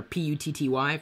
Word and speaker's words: PuTTY: my favorite one, or PUTTY. For years, I called it PuTTY because it's spelled like putty. And I guess you could say it's PuTTY, but it's talking about the command put, so it's PuTTY.